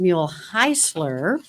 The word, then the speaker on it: Muehlhausler: Well, a German professor said that I mispronounced it when I was working at St. Louis University, and he said it should be pronounced Muehlhausler.